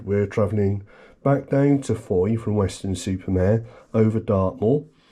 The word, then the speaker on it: Fowey: Uh we got to a place called Foy, um pronounced Foy, but spelled Foye.